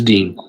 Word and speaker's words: Dean: Hold on, my bad. I said it wrong. Is it or Dean? It's Dean.